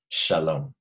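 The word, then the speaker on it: שלום: to say hello and goodbye the word is Shalom all right I'm going to write it on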